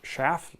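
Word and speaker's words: Schaaf: normally these are pronounced shaft like shaft without the t which is actually the dutch word for hand plane kind of an interesting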